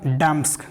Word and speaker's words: damask: अब बोलिएगा डैम्स्क, क्या बोलेंगे, डैमस्क, डैम्स्क, क्या बोलेंगे, डैम्स्क, बोलिएगा, बोलना है डैम्स्क, स्पेलिंग बोलिएगा DAMASK, क्या है DAMASK, DAMASK, डैम्स्क।